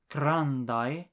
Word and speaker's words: grandaj: The big houses is la grandaj domoj. The sound written AJ is pronounced like the I in the English word by. It is never pronounced like the aj in badge.